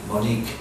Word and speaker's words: Monique: sound it out e is silent you cannot hear the E Monique the E it's there correct spelling has a e but cannot hear it Monique it's called silent e